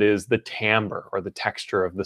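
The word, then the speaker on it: timbre: about t IM BR e you know it's pronounced Tambor which i think is a little bit weird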